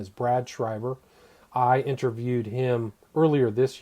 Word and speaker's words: Schreiber: cy ve are calm his name is spelled s CHR III be ER it's Brad Shriver but again the book